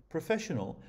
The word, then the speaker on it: professional: write it in 2.1 professional has four syllables and is stressed on the second so write it